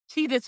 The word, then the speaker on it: Cheez-It: Well, I think also because it's spelled with the Z, cheese the Z is the S sound. So Right. that's why we're remembering cheese its, but there was never an S.